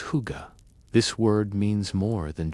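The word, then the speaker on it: hygge: The Danish concept of hy which you might pronounce as huga.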